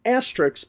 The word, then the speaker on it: asterisk: I give her a 9 with an asterisk. The word is not pronounced asterisk. There is no letter X at the end of the word. The two letters, S and K, make the sound sk, not x.